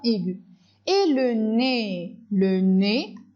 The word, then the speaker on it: nez: Et le nez, EZ se prononce E.